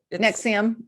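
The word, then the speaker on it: NXIVM: Is that how you pronounce that called? The NX1. Nexium.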